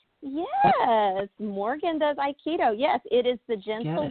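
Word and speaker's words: Aikido: started with, uh Hap Keto, Hap Keto and Iikido are spelled very similarly, and it's because they have the same roots. There's h a p k i d o. That's the that's Korean. But I also did Iikido.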